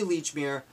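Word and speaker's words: Lechmere: Leechmere, because it's spelled the same as the department store. Holy moly, I didn't even make that connection. That's great. Well, it's officially Leechmere.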